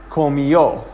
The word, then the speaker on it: comió: So in this case, the accent mark is overriding not only the second to last vowel, syllable, but it's also overriding the fact that the diphthong is a diphthong. It's changing the diphthong from yo to eo, which is 2 syllables. Okay? So that's important because I want you guys to say these words comió, not comió. So there's no Y sound.